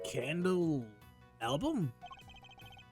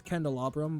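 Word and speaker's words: candelabrum: Know it was always candalabram. But it's like have you heard of a candalabra?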